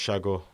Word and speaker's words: Sago: right, It's actually pronounced Shago. right, okay, It's like a Cypriot word for someone that's like lazy who sits under this tree, like, you know.